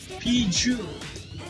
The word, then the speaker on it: Peugeot: It is written as Peugeot, but it is not actually Peugeot. It's Peugeot.